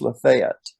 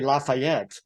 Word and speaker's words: Lafayette: laf not a capital is f so it's pronounced Lafayette and I've been corrected with that all my life well there's a the street in downtown Nashville is also called Lafayette yeah yeah everybody wants to say Lafayette yeah and uh it wasn't Lafayette Georgia and